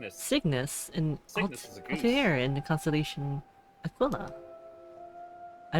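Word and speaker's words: Cygnus: Signis. Signis in the constellation Aquilla.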